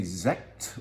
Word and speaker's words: Sekt: This is a Sekt. What is Sekt? That's S-E-K-T, and that's how you pronounce it.